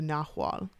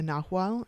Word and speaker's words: Nahual: In Mexico, werewolves are the Nahual, sometimes spelled with an H and sometimes spelled with a G, but it's pronounced the same way.